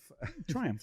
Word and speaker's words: Triumph: week was the 63 Triumph TR4 Cabriolet. What a really cool car. It's red, signal red over black. And is it Triumph or Triumph or Triumph? Triumph. Triumph. Triumph, like Triumph the dog.